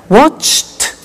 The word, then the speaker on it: watched: Now, when we add the ed, what happens is the pronunciation becomes T. We don't say watched, we eliminate the E and we say watched. Okay? Interesting, hey? So look at that. Watched, danced, eliminate the E, pronounce the T.